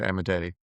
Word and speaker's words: Amodei: How do you pronounce his last name, Andrew? Dario Amodei. Amadei.